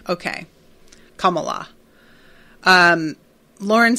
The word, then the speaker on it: Kamala: um Rowan says uh Kamala all the a sounds are pronounced the same way okay Kamala um Lauren says I